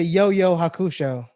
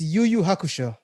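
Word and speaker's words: Yu Yu Hakusho: what did i say you say yo yo hakusho oh my bad it was it's yuyu hakusho maoba i need you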